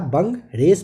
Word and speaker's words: Bungarus: BUNGARUS करके होता है, इसे आप बंग रेस पढ़ते हो।